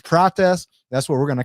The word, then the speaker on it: Prates: I thought it was Pace, but I heard him pronounce it. It's Pratz.